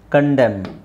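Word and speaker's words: condemn: ಕಾಲಂ ಕಾಲಂ ಇದು ಸೋಲಂ ಸೋಲಮ್ ಇದು ಡ್ಯಾಮ್ ಡ್ಯಾಮ್ ಕಂಡೆಮ್ ಕಂಡೆಮ್ okay so ಯಾಕೆ ಸೈಲೆಂಟ್ ಲೆಟರ್ಸ್ ದು ಅವಶ್ಯಕತೆ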